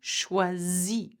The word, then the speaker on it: choisit: Il choisit. Okay, don't pronounce the T.